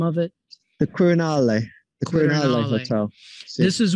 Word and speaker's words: Quirinale: And tell me again how you pronounce the name of it. The Quirinale.